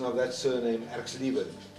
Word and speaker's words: Erxleben: de Swart, for helping us with the correct pronunciation of that surname, Erxleben. Erxleben.